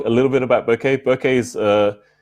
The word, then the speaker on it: bokeh: little bit about bouquet bouquets it's be okay eh some people pronounce bokeh which is incorrect so sorry it's it's basically the Japanese word which means out of focus area so it's bouquet right and so basically it's